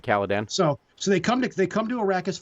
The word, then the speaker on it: Caladan: I'm probably getting that name wrong. I should know. You got it right, Caladan.